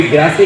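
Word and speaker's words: Grasse: France में perfume capital अगर है कोई, तो कोई ग्रासे कहता है, कोई ग्रास कहता है, वो एक प्रोनाउंसिएशन है कि इंग्लिश या फ्रेंच जो भी कुछ है।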